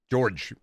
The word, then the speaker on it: Jorge: George. Gorge. We're going to get to Colonel Hacka. Then we need to find a way. Yeah. Spelled like Jorge, but said like George.